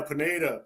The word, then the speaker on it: Pineda: it's too late yeah Pineda Pineda that's how you say his name all right Daniel Pineda he fought Daniel Panetta do a unanimous decision